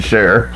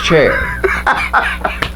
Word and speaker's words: Cher: don't you share yeah not sir cher that's how she pronounces it cher cher i thought it was chair her real name is